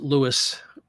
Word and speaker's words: Louis: Joe Louis in Canada well Joe pronounced it Lewis how beautiful is this